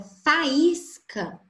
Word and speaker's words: faísca: Na palavra faísca, tem um encontro vocálico do A com o I. São duas vogais? São. A letra I aqui, por ela estar recebendo esse acento agudo, ela é contada como uma vogal e não como uma